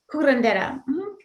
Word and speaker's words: curandera: Am I saying it right, curandera? Kurendera. Yes.